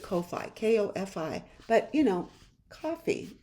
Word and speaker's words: Ko-fi: So everybody pronounces it Ko-Fi, K-O-F-I. But, you know, coffee shop, it's coffee, right?